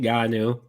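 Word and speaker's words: Ngannou: to say um and it actually sounds like it looks so I feel like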